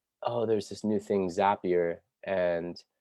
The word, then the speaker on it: Zapier: new thing, Zapier, and a lot of people call it Zapier, but I'm here to debunk that pronunciation because when you talk to the Zapier tech people, and if you read their like blogs, it's called a Zap.